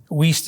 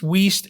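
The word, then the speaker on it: Wuest: table that says vincent's or whist wheast is spelled w-u-e-s-t uh yeah vincent's weast and robertson's i think i put robertson's that's wheast yep and then i think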